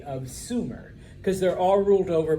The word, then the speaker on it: Sumer: and of course uh modern historians have agreed that it was more than likely pronounced Sumer okay I put their